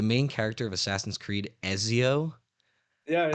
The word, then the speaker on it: Ezio: Assassin's Creed Ezio yeah I pronounced his name enzio and I got flamed I got flamed on Tik Tok for it by people by random people they were like no way this guy said enzio instead of Ezio yeah